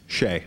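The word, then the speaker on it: Hsieh: How do you pronounce his last name? Shea.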